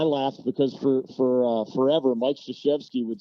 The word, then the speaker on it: Krzyzewski: So, and I laughed because for forever, Mike Krzyzewski would say, the Polish derivation is Krzyzewski.